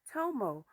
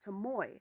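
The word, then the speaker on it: Tomoe: But anyway, so next stop, Tommo. Or a lot of people say I've been saying her name wrong. It's Tamoy. I'm sorry if I said her name wrong.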